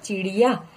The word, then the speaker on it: चिड़िया: चिड़िया. यहाँ पर लिख दीजिए चिड़िया. अगेन प्रोनाउंसिएशन में ध्यान रखिएगा, ये ड है, ड नहीं है.